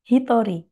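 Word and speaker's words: 一人: Di sini saya mulai dari satu orang, hitori, dua orang, futari, tiga orang, sangnin. Jadi di sini cara baca yang spesial adalah satu orang dan dua orang.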